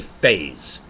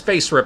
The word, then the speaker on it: FASERIP: I should say phase. I should pronounce the S's Z, because Face Rip, that makes it sound violent.